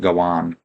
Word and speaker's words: Gawain: Uh I've heard people say uh Gawain as well and Gowan instead of Gawain. I say Gawain just because I'm saying it phonetically and I like the way it sounds.